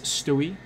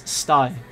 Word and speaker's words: Stai: of people mispronounce it, they pronounce it as Stewie. Or a, but that's not how you pronounce it. If you're from New York, you'll definitely know how to pronounce it 100%. If you're Dutch, you should definitely know how to pronounce it 100%, because it's a Dutch name. It's a name originated from Dutch. Okay, but the way to pronounce it is Stai.